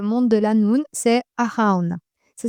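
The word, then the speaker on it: Arawn: Le dieu qui gouverne le monde de la noun c'est Araun. Ça s'écrit A R A W N.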